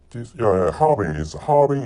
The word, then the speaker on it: Harbin: Harbin is the correct pronunciation.